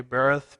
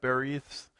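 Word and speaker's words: בְּרִית: do you pronounce it okay bareth beryth depends on which salallabal gets the imphasis as i like to say that is a huge word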